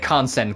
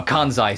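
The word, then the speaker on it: Kansai: She has like a very flat Japanese voice, but then every now and then a bit of kansen kicks in. Oh, kanzai, sorry, kicks in.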